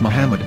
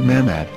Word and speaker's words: מחמד: after the H according to Ben yehuda's Hebrew English dictionary it is correctly pronounced as Muhammad not mmad so how we're going